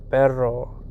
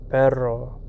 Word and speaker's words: perro: R the word is perro perro so now you have to roll your R perro the sound of the